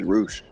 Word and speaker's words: Rush: R-U-S-H. R-E... You mean Rush? Yeah, they just pronounce it as Roosh.